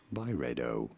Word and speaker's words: Byredo: let's let's listen to this say it Barbados by redo is how it is usually said Barbados okay